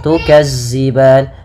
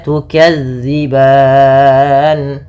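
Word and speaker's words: تكذبان: Jangan tukazziban tapi tukzi. Bagaimana cara melafalkannya? Ujung lidah. Ujung lidah menempel dengan gigi seri atas. Gigi seri atas. sehingga dia pelafalannya terdengar dza bukan za dza bukan za maka tukadziban kemudian pada lafal ban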